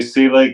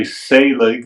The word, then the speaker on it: Selig: my guest is Celig. Did I pronounce it right? Yeah, I did. Some of the family members say Selig and I tend to say Saleig like s a y